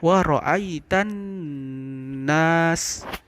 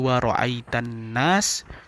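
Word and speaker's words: وَرَأَيْتَ النَّاسَ: Itu adalah khunnah, dia berdengung. Maka cara bacanya adalah ditahan. Wa ra'aitan nas. Jadi tidak boleh langsung, tidak boleh wa ra'aitan nas, tidak boleh, tapi wa ra'aitan nas. Jadi ditahan. Kemudian huruf kho itu adalah huruf pangkal tenggorokan.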